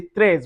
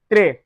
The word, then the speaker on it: trois: We don't say trois, we say trois.